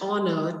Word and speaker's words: honor: He is dash honor to this profession.